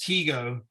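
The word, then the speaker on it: Tycho: by the name of we spell it t-y-c-h-o i think it's pronounced teego brahe he's a dane same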